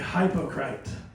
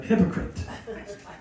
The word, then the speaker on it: hypocrite: Then at dinner, Mom said something I didn't like, and I called her a hypocrite. So my family, they laughed at me, and they informed me that it's actually pronounced hypocrite.